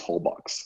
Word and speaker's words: Holbox: For me, if I read it, it's Holbox. The people say Holbox. I don't know. You sound like super when you say that. It's the X's are like shh.